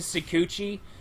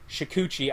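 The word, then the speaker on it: Shukuchi: this the ability to secuchi every uh what is it shikuchi i should say it right i say i i don't say the first h i apologize about that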